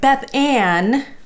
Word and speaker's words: Beth Ann: But Beth Ann rhymes with plan.